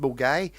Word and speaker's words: Milngavie: I mean, there's a place, Milngavie, in Glasgow, which is spelled Milngavie, which is pronounced Mulgai.